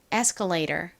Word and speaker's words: escalator: 미국 식으로는이 단어에서 t를 리을 발음처럼 좀 꼬아서 발음하는 경향이 있어요. 따라해 보세요. escalator.